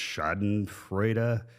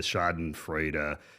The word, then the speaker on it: Schadenfreude: Although I have been a little, there's I don't speak German, but there's the word, I think it's pronounced Schadenfreude.